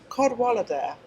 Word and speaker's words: Cadwallader: It's Welsh. It's a lovely name. I could pronounce it. It's a Cadwallader.